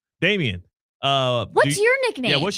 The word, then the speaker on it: Damien: Dame, yeah, I guess because Damien is 2 syllables, so it's Damien, and Dame is just 3 syllables. Right. Damien. Damien. Right. Damien, yeah. And Dame is just 1.